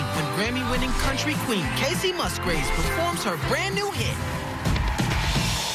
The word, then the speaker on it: Musgraves: It's Musgraves, right? Okay, thank you. I always get nervous because, you know, I mispronounce so many things that now I'm George so...